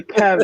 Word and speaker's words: QEV: in some circles, but that's actually not the right pronunciation. Yeah, the Kev, I suppose. Yeah, Kev. That's right. It's a hard Q.